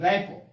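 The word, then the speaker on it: rapport: रैपो, ध्यान दीजिए इसको, रैपो ऐसे है प्रोनाउंसिएशन, ध्यान दीजिएगा, गलती मत बोलिएगा, रपट मत कर दीजिएगा, ठीक है।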